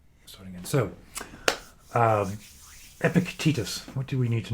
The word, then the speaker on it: Epictetus: let's start again so um epic Titus what do we need to know about epic Titus for today I'm assuming that it's pronounced epicotitis perhapses Epic tetus Epictetus Epictetus I like that Epictetus uh he